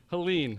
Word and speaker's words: Helene: Helen Pauline what was it how was it pronounced Helene hurricane yeah here's another tough one Michael American